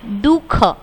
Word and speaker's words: दुख: तो इसमें ये अह है, ये बीच में आता है पर ये हमें बोलना नहीं है, यहाँ पे ये साइलेंट है दुख, पर ऐसे बिंदी बीच में आती है।